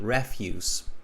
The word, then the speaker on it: refuse: pronounced differently here so same spelling different pronunciation refuse okay refuse means garbage